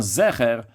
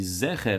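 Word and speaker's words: זכר: avec Zecher, le Zayin, avec un Tsere, donc avec 2 points en dessous le Zayin, ou bien Zecher avec un Segol, donc 3 points sous le Zayin. Et d'ailleurs, la coutume Chabad, c'est de prononcer avec les 2, aussi bien avec le Tsere et aussi bien avec le Segol.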